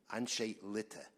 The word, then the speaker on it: Anshe Litte: Thank you, but I think what he was asking was, how do you pronounce A-N-S? Oh, that one? Oh, Yes, Anshe L- Litte? Anshe Litte.